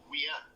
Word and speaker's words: Wien: It's just like in Vienna, they don't say Vienna, they say Wien.